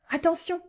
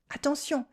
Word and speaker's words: attention: Attention, that's for watch out. Attention. Here we have two nasal sounds, on and on. Attention.